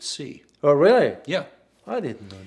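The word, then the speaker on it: Xi: he's not uh well my mandarin tutor pronounced it c oh really yeah i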